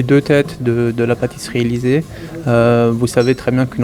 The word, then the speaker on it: Élysée: Et pour moi c'est très important parce que la pâtisserie Élysée, déjà ça se prononce Élysée en allemand et en français.